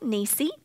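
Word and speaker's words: Nissi: drive a nissan but nissan kind of sounds like niecy and banners hang from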